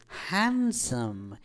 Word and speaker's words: handsome: So it is not handsome, it is handsome. यद्यपि डी आसे किंतु आमे डी को एटे साइलेंट रखी की उच्चारण करि था, राइट?